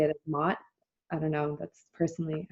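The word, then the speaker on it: Ma'at: You pronounce her name as Mayit, but I like to say it as Mot.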